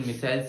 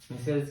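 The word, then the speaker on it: micelles: जब हम पढ़ते थे तब हमें इसको याद करने के लिए मिसाइल्स बोल देते थे। असल में इसका प्रोनाउंसिएशन कैसा है, मिसेल्स। मिसेल्स के बाद जैसा कि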